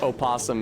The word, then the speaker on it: opossum: Uh, the unstressed first syllable just gets truncated. That being said, dropping the O off of oasum is so frequent, even